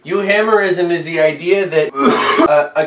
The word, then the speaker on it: euhemerism: it's got the u it's got the y o u which is from the greek you hammerism is the idea that